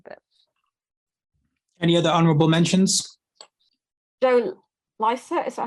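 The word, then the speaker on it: Joe Lycett: the Tories yeah so let's just clarify it's not Joe Lisa he's not on the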